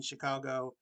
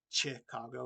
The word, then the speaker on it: Chicago: crane red king even the ch in chicago is pronounced as sh from the french inheritance uh so yeah not it's not chicago it's chicago that's what